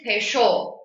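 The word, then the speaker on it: penchant: The first word is pesho. Okay, that's how you pronounce the word.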